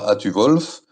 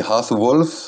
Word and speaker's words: Hathuwolf: Alors déjà pour commencer, c'est pas Atu-Wolf, c'est Hath-Wolf, hein, le U se prononce OU dans les langues germaniques, mais ça tu le